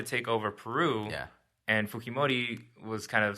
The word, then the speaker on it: Fujimori: But it's a J in there, and you pronounce it with the H sound. Fujimori.